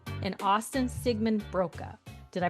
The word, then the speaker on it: Siegemund-Broka: And on this author spotlight I am welcoming author duo Emily Wibberly and Austin Sigman Broka. Did I pronounce this correctly?